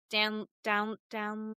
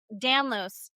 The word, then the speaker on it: Danlos: So it's so interesting that you say that only because somehow I have ended up on Eller's Dan down. I'm saying it wrong. Danlo Danlos.